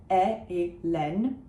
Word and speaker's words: Hélène: So it's E, a closed E, followed by an open Hélène, close to Helen, right?